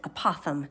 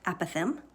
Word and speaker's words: apothem: the term a Pithom when I first started teaching I pronounced it apothem and then some of my teacher friends kind of made fun of me because I was saying it wrong it's pronounced a Pithom and a NAPA thumb